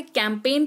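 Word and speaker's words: campaign: लीजिए यह करेक्टेड है जी के तुरंत बाद अगर एन लगा होता है तो एन का उच्चारण नहीं एन का उच्चारण हो होता है और जी जो है वो साइलेंट रहता है उदाहरण फॉरेन असाइन कैंपेन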